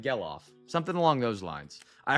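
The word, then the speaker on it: Gelof: I've been saying jellof. It's not. It's like gellof.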